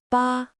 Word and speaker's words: 八: This character is pronounced ba.